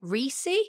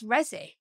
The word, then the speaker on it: RESI: people will be like is it reesy and I'm just I don't understand that everyone can't just like look it and be like it's rezzy like it's just like surely like that you can't pronounce it any other way but yeah that's the